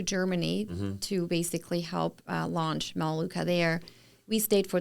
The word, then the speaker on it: Melaleuca: I know that at this point we're not in Mailuka yet. Am I saying that correctly? Melaleuca.